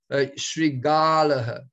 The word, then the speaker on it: शृगालः: Pronounce the ah here, Vinodvani, Shrigalaha. You know, Shrigalaha, yeah, I keep mixing it up with the other word that's similar.